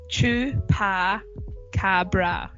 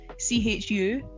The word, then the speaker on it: chupacabra: For those who don't know how to pronounce it, it's Chupacabra. So if you want to break it down, it's Chupacabra.